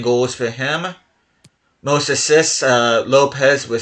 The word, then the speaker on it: Lopes: Lopez, which I think is actually supposed to be Lopes because he's Portuguese, but I'm just going to say Lopez. 9 goals for him. Most assists, Lopez with 6.